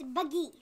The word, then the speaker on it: Baaghi: I think it's Baaghi. Yeah, I think I said it wrong. Buggy. I was just really excited. It's Baaghi.